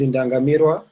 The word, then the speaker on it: Indangamirwa: You were saying that I should tell you how to pronounce the name. The name is Indangamirwa, and it's a Rwandese name, which means like those people to stare at.